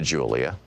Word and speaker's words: Julia: I began to speak to Julia, pronounced Julia, in Spanish.